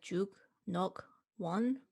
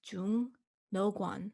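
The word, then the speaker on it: 죽녹원: It looks like juk, nok, wan, but it becomes jung, no guan.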